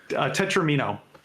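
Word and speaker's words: tetromino: How do you pronounce those? Tetramino. Tetramino. Oh, tetramino. I'm learning all kinds of from the original Italian. Tetramino.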